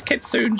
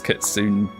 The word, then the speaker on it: Kitsune: I did actually look up how you pronounce it because people were like, oh, Speedwing pronounces Kitsune strangely. Apparently it is Kitsune.